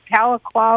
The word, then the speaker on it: Tahlequah: It only took you about 10 years, but you learned to pronounce Tahlequah, Oklahoma. And I'd like to say hello to Bob in Tahlequah, Oklahoma.